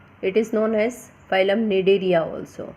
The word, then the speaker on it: Cnidaria: It is known as phylum Cnidaria also, Cnidaria. C is silent here.